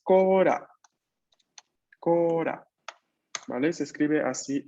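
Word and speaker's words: コーラ: Eso en japonés es kora.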